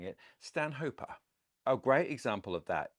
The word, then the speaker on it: Stanhopea: rules of nenat are if a plant is named after a person then you pronounce that person's name as per the person's name in the latinized version